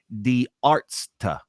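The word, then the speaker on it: Die Ärzte: many times and I had to learn how to pronounce it it's the Arts all right it means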